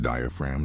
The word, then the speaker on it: diaphragm: It's pronounced diaphragm, not diaphragm. Diaphragm. Why is the G silent?